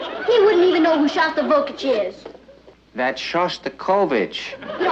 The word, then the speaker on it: Shostakovich: He's taking me to hear Shostakovich tonight. Honey, I think that's pronounced Shostakovich.